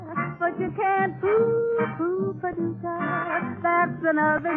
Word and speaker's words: Paducah: If you want to, you can rhyme it with bazooka. But you can't poo-poo Paducah.